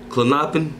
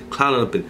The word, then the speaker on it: Klonopin: I've been trying to pronounce this shit before I hop on this shit. Klonopin. Klonopin is how you say it.